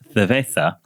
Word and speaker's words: cerveza: The letter Z does require a lisp, so I was happy to hear producer Ben pronounce cerveza like a true Spaniard.